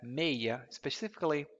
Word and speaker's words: meia: One of the most important points about number, actually two most important points, is that the number 6 can be pronounced as meia, especially actually when you're giving your phone numbers.